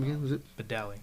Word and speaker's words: Badali: Badali. Badali. I almost said Badia.